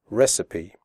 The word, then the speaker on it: recipe: The ending CIPE is pronounced sipi, recipe.